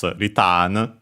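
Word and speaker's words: リターン: Yeah, it's retan. Uh the accent is uh on the T as expected just like in English.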